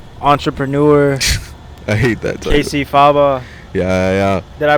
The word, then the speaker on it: Cacyfaba: Cacyfaba. Yeah. Did I pronounce it right? Yeah, Faba's the right way. Yeah. I've heard some weird pronunciations, but Faba's, that's the way.